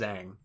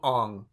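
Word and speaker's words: Aang: they call him on his name is ang but they called him Ong like there's just no it's just not his name um they pronounce everybody's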